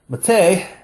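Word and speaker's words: מַטֶּה: Now, when this word is pronounced mateh, it can mean either rod, and you can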